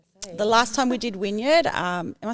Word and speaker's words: Wynyard: The last time we did Wynyard, am I saying it right? Wynyard, yeah.